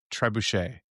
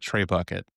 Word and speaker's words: trebuchet: I had a friend who had never said the word trebuchet out loud. Trebuchet. And when you read it, it looks like tray bucket. Yes. If you were to read it like as an Anglophone, hooked on phonics, tray bucket.